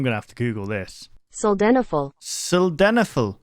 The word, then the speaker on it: sildenafil: Sildenafil. Sildenafil. Try to put less emphasis on this vowel and pronounce it quietly. Sildenafil.